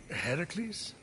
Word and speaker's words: Heracles: Heracles? Yeah, that that is how it's supposed to be pronounced.